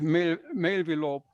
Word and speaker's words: Mailvelope: shows, for example, with Mailvelope, that you can do this rather easily. Okay. It is possible easily to do, right? Is that spelled like mail and envelope put together?